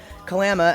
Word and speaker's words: Kalama: There's a town in Washington called Kalama, and that is Kalama, actually, is how we pronounce it here.